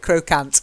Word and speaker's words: croquant: Croquant. Croquant. Croquant. That's it, perfect. Yay. But if you go to Nottingham, where I was raised, people will call it crocant.